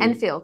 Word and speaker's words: Enfield: wearing the shirt, Royal, is it Enfield or Onfield? I actually don't know how to say it. How dare you? Enfield.